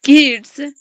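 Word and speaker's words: could: गो टू the park CO यू एलडी में L silent है कुड बोलेंगे तो कम हो जाएगा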